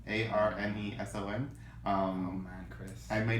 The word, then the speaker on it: Arneson: I think I said David Anderson, and it's actually Dave Arneson, Arneson.